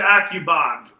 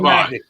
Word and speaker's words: Alucobond: No, the one about the AccuBond. Right here. It's asking, what were you guys talking about? Use clean with AccuBond or however you spell it. Alucobond.